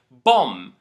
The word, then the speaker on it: bomb: We don't pronounce the letter B in 2 cases. The first case is when it comes after an M at the end of a word, like bomb, dumb, lamb.